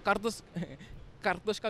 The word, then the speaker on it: Katoshka: So Katoshka with the R is actually potato. Yeah. So and I just decided to remove the R.